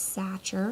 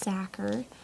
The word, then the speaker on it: Sachar: holes written by Lewis Thakur here's the cover for the longest time I thought that his last name was Sacher very wrong it is pronounced sacker there was another cover